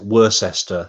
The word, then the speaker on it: Worcester: I know that because Worcester's nearby as well, they pronounce it Worcester. I think in Massachusetts. Over Worcester, here, yeah, it's Worcester. But I think so you have Worcestershire sauce, of course. So you pronounce it like you pronounce that as it should be, but it's actually Worcester, not Worcester or Worcester.